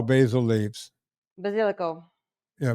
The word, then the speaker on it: basilico: Basilico. Yeah, basilico. Yeah. Let's do it right. If you're going to be Nona, you got to do it right. Italians pronounce it basilico. Yeah. Not basilico. We call it, well, I grew up in Cajun land.